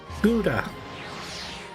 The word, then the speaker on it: Gouda: Gouda. Well, I won't bore you with the 100% correct way to pronounce it, which is Gouda in Dutch.